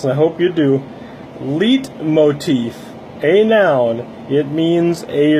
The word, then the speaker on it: leitmotif: This word is pronounced leitmotif.